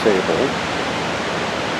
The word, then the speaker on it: Ausable: austral or sable river it's actually pronounced sable and you really can't